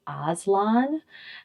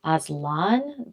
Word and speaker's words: Aslan: So he says Aslan's name kind of more like Aslan. Um, so it's very different from how I call him. And then I've seen some people say like Aslan, putting the accent on the second syllable.